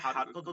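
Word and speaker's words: حركة: এটা কিন্তু উচ্চারণটা মূলত আরবিতে কাত হবে, হারকাত মানে কাফ দিয়া। কিন্তু আমরা সাধারণত ওই যে বাংলায় বলি কত, এর জন্য মনে হয় কফ, কিন্তু এটা হচ্ছে কাফ দিয়া।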